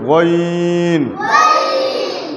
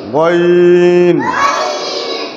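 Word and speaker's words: غ: আর গয়নের উচ্চারণ হলকে শেষ হইতে গইন, গইন, গইন, গইন।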